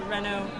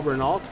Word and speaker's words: Renault: So you see here, this is the Renault emblem. What some of us would call Renault. Yes. Sorry, in France they say Renault. They pronounce it correctly.